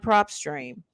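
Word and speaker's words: PropStream: have a system like prop stream prop not pop a lot of people spell it p r o p s t r e a m dot com okay uh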